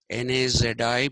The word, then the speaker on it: Nazi: century phenomenon okay it came with the nais N A zi pronounced Nazi n a t z i you have